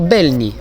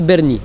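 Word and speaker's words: Bernini: Alors, petite erreur de prononciation, c'est la fontaine Lorenzo Belni. Apparemment, c'est Berni.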